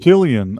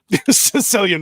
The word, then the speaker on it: Cillian: pretty It sure is it's Killian. Killian, yeah. It's Did I say pronounced that. Cillian? Well, that was my Yeah. autism. I used You to were make the thinking- same you were mistake thinking until somebody like a corrected me. Sicilian.